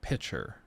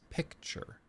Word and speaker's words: picture: It's not pitcher. Pitcher is what drinks are in at a restaurant, then they pour it in. It's picture. There's a C.